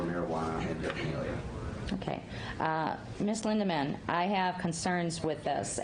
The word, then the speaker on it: Lindeman: Did I pronounce that right? Lindman. Or is it Lindeman?